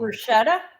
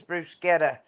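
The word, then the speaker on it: bruschetta: toast and the the what is it called Bretta Bretta that's what I BR it's bruetta whatever I mispronounce this corrected me on that one and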